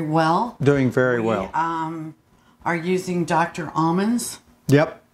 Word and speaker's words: Amen: Almonds. Yep. That's almond, as in A-M-E-N, spelled like amen.